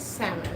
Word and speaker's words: salmon: i came here that they call it salmon like why are you putting this letter and not pronounce it like why why just